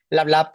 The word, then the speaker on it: Lablab: Lablab, talk. Yes. Perfect.